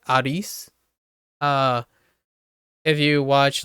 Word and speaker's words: Arisu: close but it becomes ARIS with a soft U at the end but yeah and and here's the funny part this is where the dub gets crazy right here's a meta dub and when they dub it over they make the English voice actor right the English voice actor say arisu as in like a-r-i-s-u so every time like